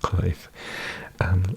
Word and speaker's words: Cruyff: Okay, I'm like, it's pronounced Cruyff.